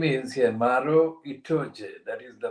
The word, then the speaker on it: Maro Itoje: His name is Maro Itoje, that is the pronunciation.